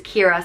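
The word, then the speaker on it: Ciara: one of the most common Irish names is Kira spelled c-i-a-r-a but if you wanted a different take on it you could spell it after the Kira islands and it's spelled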